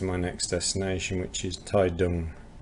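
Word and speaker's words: Taitung: takes me to my next destination, which is Taidong. Spelled Tai Tong, but it's pronounced Taidong.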